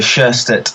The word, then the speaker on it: Sjöstedt: do you say your last name it's Peter chest @h okay I'm going to try that is